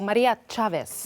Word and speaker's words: Maria Chavez: Maria Chavez. Yes. I pronounced it well.